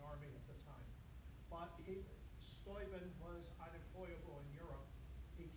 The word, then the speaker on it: Steuben: Friedrich, proper pronunciation is Steuben, and he wasn't a von, by the way.